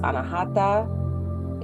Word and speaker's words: anahata: it's represented by the color green and it's pronounced anahata is the heart chakra so uh the healing